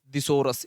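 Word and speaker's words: thesaurus: इसे दिसोरस भी बोलते हैं बेटा, क्या, दिसोरस, ठीक है, दिसोरस, इसे याद रखना। इसकी प्रोनाउंसिएशन बेटा दिसोरस होती है, क्या, दिसोरस, दिसोरस, है ना।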